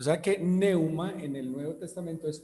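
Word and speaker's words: pneuma: ¿A qué le suena la palabra neuma? Bien pronunciado sería algo así como neuma, a neumonía.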